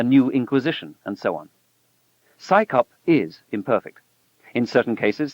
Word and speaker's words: CSICOP: Its initials, CSICOP, are pronounced as the acronym PsyCop, as if it's an organization of scientists performing a police function.